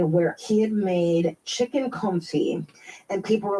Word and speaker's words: confit: Yes, the confit.